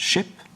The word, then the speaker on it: ship: is written as sk, they'd pronounce as sh, like it used to be skip, but now we pronounce it ship, skirt, shirt, right?